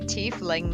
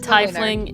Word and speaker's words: tiefling: probably I guess it must be tiefling then I think the reason I've said typhling is because like the first person who ever told me about dnd's pronounce it tiesling I think that's what